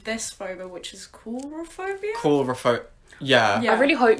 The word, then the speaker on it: coulrophobia: Coulrophobia. Yeah. Yeah. I really hope you pronounced that right.